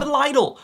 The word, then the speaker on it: Lidl: Coming in all the way from Deutschland, we have Lidl. Lidl is a good place to get cheap food that will probably kill you in a couple years. Lidl.